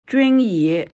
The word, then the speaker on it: Junyi: Entonces, para darle la bienvenida, mira, mi madre, con mucho cariño, dice, se pronuncia así. Junyi.